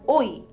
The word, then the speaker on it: ঐ: letter A the next letter is oi it is pronounced as oi in the English word oink there is no Matra